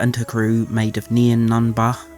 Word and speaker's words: Nien Nunb: So Leia and her crew, made of Nien Nunba, which is how they say it in the audiobook, so I guess that's how we're saying his name now, and 3 other team